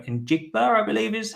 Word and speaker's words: Njigba: I should have looked up how to pronounce his name. Njigba, I believe, is how you say it.